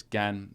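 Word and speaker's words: 干: In the front entrance, because it's Gan, so it's or at least this pronunciation of this character, meaning dry, is Gan. So it's out in the first tone, so it's front of the entrance.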